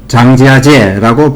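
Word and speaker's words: 张家界: 중국어로 장지아제라고 발음하는 장가계는 면적이 9,516제곱킬로미터로 면적이 8,073제곱킬로미터인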